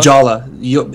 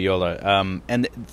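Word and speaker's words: Jolla: I think it's Yola? Jola. If it's Finnish, then it's Yola. It's probably Yola, right? Yeah, because it's Finnish, right? Then it's Yola. Yeah, then it's got to be Yola.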